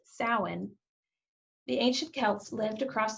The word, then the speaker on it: Samhain: of what it looks like it should be pronounced samhain but it's actually pronounced samhain the ancient celts lived across the british isles